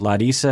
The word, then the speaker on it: Larissa: By the way, I like to pronounce it Larissa because that's how she pronounces it, which seems more respectful to her.